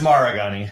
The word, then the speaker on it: Maragani: g what is your last name though it's maragani Mar right my last name is Ray Bonnie and I no one pronounced it correctly and I just quit correcting